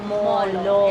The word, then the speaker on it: Molo: / Chinese cannot pronounce R, they said it Molo instead of Moro.